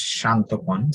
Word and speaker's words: Shantan: would you please unmute how do you say your name uh yes it's shantan so it's not exactly